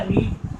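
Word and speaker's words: read: इज के बाद में V3 होगा, रीड। रीड का V3 स्पेलिंग में एक ही, उच्चारण में अलग होता है, रेड।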